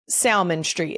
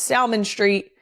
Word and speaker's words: Salmon Street: S A L M O N as in the fish. But it is Salmon Street.